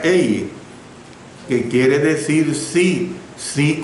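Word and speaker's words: εἰ: Porque esto se expresa en el idioma griego la palabra ei, solo dos vocales, ei, pero se pronuncia ei, que quiere decir sí,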